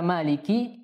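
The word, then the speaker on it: مالك: keempat ya Maliki yaumiddin pada kata Maliki kita harus hati-hati untuk tidak memanjangkan Ki Maliki yaumiddin Jadi dibacanya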